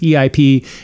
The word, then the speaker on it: EIP: It sounds like VIP instead. So instead it's EIP and EIP because it rhymes and happens to kind of sort of similarly match the letters of the Elvis impact.